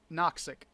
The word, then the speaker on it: Noxic: Noxic. Noxic? Mm-hmm. With an X. Noxic rhymes with toxic.